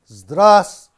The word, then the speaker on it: Здравствуйте: The greeting in Russian is Здравствуйте. I will try to explain you in English and Hindi. Здравствуйте. This is the first syllable. Твуйце. Твуйце. Здравствуйте. Three syllables.